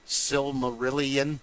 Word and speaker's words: Silmarillion: history and it was really fantastic because the Silmarillion, that's how you say it. I've never been able to. That's the way I was told. Sally Millie.